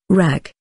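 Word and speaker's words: Rakı: Rak, pronounced rak, is the most popular alcoholic drink in Turkey.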